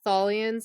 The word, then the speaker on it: Tholians: This whole planet and the Tholians, is that how you pronounce it? I think. Tholians.